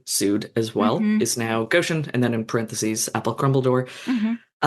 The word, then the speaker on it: Goshen: so many polls trying to get at the pronunciation of Goshen. Okay. That's what Goshen.